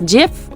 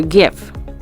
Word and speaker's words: GIF: interchange format or jf pronounced as gif or gif it is an image file